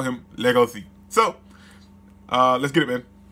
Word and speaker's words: Legoshi: So instead of Legacy, like Legacy, it's Legoshi. So now I'm going to call him Legoshi.